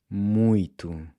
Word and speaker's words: muito: want to do something… “muito”… “mui-to”. “**muito**”. Notice again how the “o” is pronounced like a /u/, and when you pronounce the /t/, there should be no puff of air coming out… “muito”.